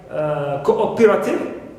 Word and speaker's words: cooperative: For example, in words like cooperative, stress is on o, not on co.